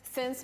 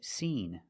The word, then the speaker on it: seen: Or, I haven't seen him since my mom's birthday. The pronunciation of the word is not sin, sin. We have to use the long E sound and say seen, seen.